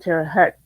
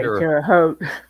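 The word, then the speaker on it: Terre Haute: and they always pronounced it Terah Hut on there until the I think it was like the third season and then they started pronouncing it uh the correct way Tero Tero yeah um like I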